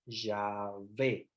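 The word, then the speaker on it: Yahvé: el nombre de Dios ya ve la H no produce pronuncia se pronuncia la primera obviamente las H tampoco se pronuncia en el hebreo es como la aspiración pero es ya fe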